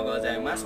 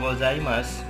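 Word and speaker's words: ございます: Gozaimasu tetap tulisannya kalau dalam huruf hiragana ini su. Jadi saya tuliskan huruf romaji atau alfabet itu tetap su juga, tapi cara bacanya boleh gozaimasu, boleh gozaimasu, boleh gozaimasu.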